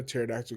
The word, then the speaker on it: pterodactyl: Why when a pterodactyl goes to the bathroom, you can't hear it? Because the P is silent.